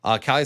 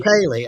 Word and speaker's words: Kaylee: Yeah, that's Kaylee. I'd probably pronounce Kaylee. Okay. Oh, that makes more sense. Refund her money. You mispronounced her.